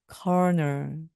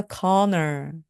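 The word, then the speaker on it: colonel: 중에서 대령님이 계십니다 coo 엘이 있어서 발음을 컬이라고 발음하기 굉장히 쉬운데요 너입니다 corner corner 발음과 스펠링이 정말 다릅니다 그래서 그는 대령님 있니다 말씀하실 때 he is a conor he is a conor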